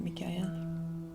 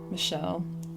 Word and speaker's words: Michel: I can keep it Michael. I like this I one. don't like the talking in my voice. My ears. Michel.